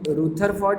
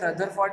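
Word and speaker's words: Rutherford: देखना, ये एक बहुत इंपॉर्टेंट साइंटिस्ट है, इसका नेम रूथरफोर्ड भी बोलते हैं, रदरफोर्ड भी बोलते हैं, कुछ भी। ये लोग कभी कभी रदरफोर्ड, कभी कभी रूथरफोर्ड, आप देख लेना आपको क्या प्रोनाउंस करने में आसानी रहती है वो बोल देना, रदरफोर्ड, रूथरफोर्ड, कुछ भी बोलो।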